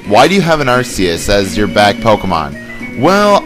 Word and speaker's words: Arceus: Now, before people go like, it's pronounced Arceus, Four kids is terrible, okay? It's Arceus.